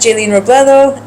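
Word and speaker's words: Jaeleen Robledo: So nothing official yet, but you can follow me on Instagram at Jaylene Robledo. It's spelled JAELEEN.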